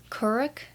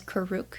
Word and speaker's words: Kuruk: in this book specifically i know that it's pronounced curric but i always always read it as kuruk so avatar kuruk that's just how i'm gonna